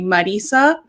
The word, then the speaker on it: Marisa: me marty like they roll their r uh because i was in a sorority that's latina focus so um they used to call me marisa and then it became so if you can roll your r and you want to call me that then go ahead um